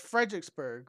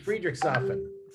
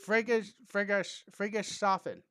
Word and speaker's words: Friedrichshafen: I'm going to call it Fredericksburg, but that's down in Texas. It's Friedrichshafen. Friedrichshafen.